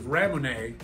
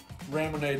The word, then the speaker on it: ramune: original now raymond actually is just a japanese pronunciation of the word lemonade which is weird because